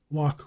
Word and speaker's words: Loch: A Scotchman coming to America would give the CH in such names as Loch Raven and Loch Vale the guttural Scotch and German sound, but locally it is always pronounced as if it were a K.